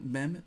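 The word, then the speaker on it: même: feminine singular and plural for example men men men men they are all pronounced identically men is always preceded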